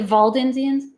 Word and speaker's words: Waldensians: They always pronounce it like Valdensians.